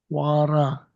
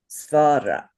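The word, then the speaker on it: स्वर: Swara. Svara. Swara. Well, saying is not incorrect. A lot of people say swara. I was taught with a v sound instead of a w sound.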